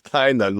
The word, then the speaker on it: Tynan: No, it's Tynan.